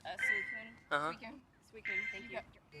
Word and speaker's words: Suicune: It's a suicine. It's a suicune. Uh-huh. Weekend. Suicune, thank you. I pronounce everything very phonetically.